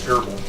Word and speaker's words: GRBL: This is the controller board, preloaded with GRBL, although I just pronounce it Gerbil.